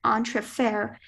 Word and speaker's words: entrefer: The engineer decided to transfer the electrical energy through a small entrefer to lower the maintenance costs. Are there any alternate pronunciations?